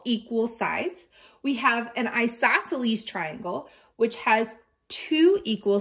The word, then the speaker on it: isosceles: that an isosceles triangle this word is pronounced isosceles and finally this on